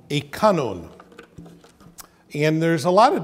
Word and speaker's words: kanun: We spell it K-A-N-O-N. So I try to, whenever possible, pronounce it kanun. Sometimes it slips and I just say kanun, which is okay as well, which would be K-A-N-U-N.